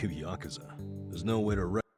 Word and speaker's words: Yakuza: actor for multiple roles once someone said Yakuza once only once though and then the rest are saying like uh Yak Yakuza right but a lot of times it gets cut even shorter for like the older like the other Japanese speakers up to this point and they would say yaksa which is like key